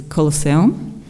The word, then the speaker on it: CLSM: pointers data structure uh our solution clsm uh can be pronounced as colos uh provides a light